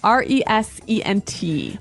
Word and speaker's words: resent: R E S E N T. But you pronounce it like a Z.